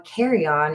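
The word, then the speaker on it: Carrion: That, by the way, is spelled C A R R I O N. not like what you would take on a plane.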